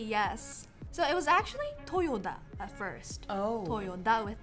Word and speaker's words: Toyota: Toyota, yes. In Japanese, it's Toyota. So it's not Toyota, but Toyota. You're emphasizing the T. The T, yes. So it was actually Toyota at first.